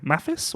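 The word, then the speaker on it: Mathis: pronounce his first name mafis or matis matis it's got to be matis it's French yeah uh valin uh emx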